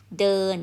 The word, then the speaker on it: เดิน: then final n so this word pronounced d n เดิน mean to walk เดิน